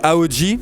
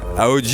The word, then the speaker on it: Ahoji: Yes, il y a un Instagram, alors moi c'est AOJ, ça s'écrit A-H-O-J-I, avec un petit, c'est le petit tiré du 9 je crois, derrière l'underscore. Super, ouais. AOJ et puis sur le